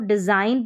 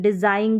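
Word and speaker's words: design: इसको डिज़ाइन पढ़ते हैं, डिज़ाइन ग न ऐसे तो नहीं पढ़ते, जी का वैसे उच्चारण ग रहता है।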